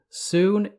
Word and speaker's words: Sune: this book states that both the pronunciation soon and soon are acceptable the later pronunciation being a more recent development in setting I come to just